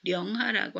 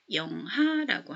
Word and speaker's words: 영하: 그런데 아까 우리말에서 두 글자 단어에서 앞에 나오는 글자는 령이나 리을이 쓰일 때 영으로 발음한다고 그랬죠. 그래서 령하라고 안 하고 영하라고 합니다.